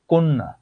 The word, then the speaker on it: কন্যা: অদ্য, বাধ্য, কন্যা। শব্দের শেষে হোক মধ্যে হোক, যদি দুফলা জ ফলা থাকে, তাহলে সেই বর্ণটা দুইবার উচ্চারণ হবে।